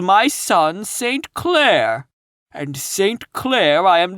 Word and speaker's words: St. Clair: Donnell, accent on the last syllable, and St. Clair, on no account Jacob.